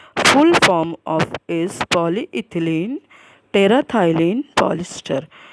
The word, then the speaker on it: terephthalate: It is in short known as the PET, but full form of is polyethylene terephthalate polyester. So here PH is silent. So it is polyethylene terephthalate polyester.